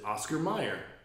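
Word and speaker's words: Mayer: problem with this is how do you spell John Mayor like last name yeah I know it's not Meer it doesn't work m a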